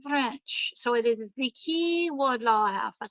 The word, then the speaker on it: Key: Now, Key is spelled in the French way. It's Quay, because I was saying Quay Wardlaw House. And somebody laughed at me on my tour and they said, it's the Key Wardlaw House.